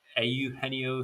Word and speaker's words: Eugenio: he got you know jesse winker and uh eugenio suarez i think that's how you pronounce this first you nailed it yup you